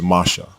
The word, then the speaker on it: Moshe: It is pure Hebrew, and the correct pronunciation is Masha.